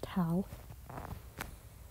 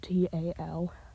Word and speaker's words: Tal: so for now it'll just be known as Tau and yes that is how it's pronounced it's spelled t-a-l um tal is going to be an animated